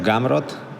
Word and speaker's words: Gamrot: My name is Mateusz Gamrot.